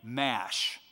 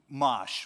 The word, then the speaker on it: Mash: who'll get there and mash that mosh would probably be a better pronunciation okay a couple of